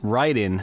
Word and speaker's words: Raiden: running through Raiden or as it's uh properly pronounced ryen for the Atari Jaguar I'll be uh pronouncing it as Raiden though just because that's kind of what I'm